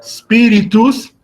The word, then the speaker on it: espíritus: antepenúltima es decir que en la palabra espíritus el acento tónico lo colocaremos en la siguiente este libro sílaba